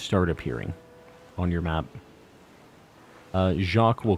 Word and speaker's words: Jacques: Jacques is pronounced Jacques. It's Jacques. He's like a French guy, isn't he?